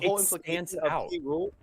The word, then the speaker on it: K. Rool: When she actually sings the song in game, it's spelled cruel, like normal cruel. But the way that she pronounces it, it's exactly like how they pronounce K. Rool in the cartoon. I know. They go K-Rool.